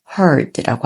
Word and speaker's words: heard: hear의 과거형은 뒤에 d만 붙여요. 그리고 발음은 heard라고 합니다.